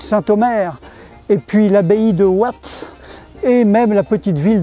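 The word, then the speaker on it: Watten: Ça s'écrit Watton, mais on prononce Watt.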